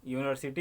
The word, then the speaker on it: यूनिवर्सिटी: यूनिवर्सिटी यू से लिखा जाता है लेकिन उच्चारण हिंदी में उच्चारण देखेंगे, हिंदी में कैसे लिखा जाएगा, यूनिवर्सिटी अगर लिखा जाएगा तो यह से शुरू होता है, इसलिए यहाँ पे